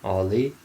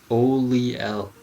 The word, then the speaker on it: Oliel: Dude, the whole time I've been playing this game, I've been calling this woman Ollie. Oliel. Oliel. Okay, that's your name. I didn't realize that was actually the proper way you pronounce that.